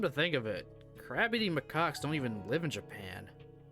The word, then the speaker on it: macaque: Is it literally just called a macaw? Macaque. Okay. Yeah, it was in fact a macaque. Come to think of it, crab-eating macaques don't even live in Japan.